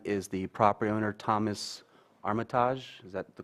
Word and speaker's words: Armitage: The appellant is the property owner, Thomas Armitage. Is that the correct pronunciation? Armitage.